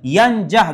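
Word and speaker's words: يَنْجَحْ: Yanjah dibacanya yanjah. Kenapa yanjah? Menjadi jawab s jawab syarat. Kedua-duanya sama-sama dijazamkan oleh man.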